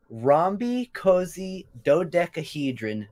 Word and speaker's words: rhombicosidodecahedron: A rhombicosidodecahedron.